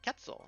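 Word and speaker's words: quetzal: Pronounce ketzel like ketzel. It's the Spanish interpretation of an Aztec word.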